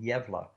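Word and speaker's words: Gävle: 200 kilometers North in a city called yevla and it's spelled g-a-v-l-e and how they get yevila out of that I don't know but close to the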